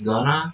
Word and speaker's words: gonna: The explanation is the alveolar stop T in to is assimilated and reduced, while the nasal end spreads, producing a smoother articulation. This is common in rapid informal speech.